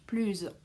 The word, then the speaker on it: plus: plus vite que moi attention devant une voyelle ou un h muet on fait la liaison donc en prononce plus par exemple soyez plus